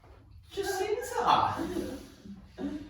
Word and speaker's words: Jacinta: Jacinta. Jacinta rhymes with Fiona.